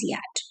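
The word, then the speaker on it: Wyatt: English poetry में sonnet को किसने इंट्रोड्यूस किया, तो यहाँ पे है Milton, Shakespeare, Spencer and याट। W silent है यहाँ पे, तो याट बोलेंगे, तो this is the right answer here.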